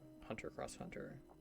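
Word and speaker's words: Hunter × Hunter: crossover between different elements the x is pronounced as cross so Hunter cross Hunter instead of Hunter x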